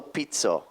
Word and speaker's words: Pizzo: yes I uh you introduced yourself as Angelo Pito I thought that was fabulous the way you